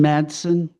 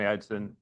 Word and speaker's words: Edson: Thank you, Madson. Am I pronouncing it right? Uh again, my name is Edson.